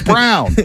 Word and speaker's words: Brawn: he's versatile Christian Brown it's spelled Brawn but it's brown out of Kansas he